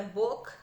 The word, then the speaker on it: book: Com u longo, não é u, é o, é muito mais parecido com o nosso o do português, né? O o fechadinho, então é book, book. E-book, que é a pronúncia correta.